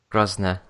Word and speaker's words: Grosvenor: believe it's the Hilton Grosvenor. It's got a V in it. Yeah, I know, but you don't pronounce it.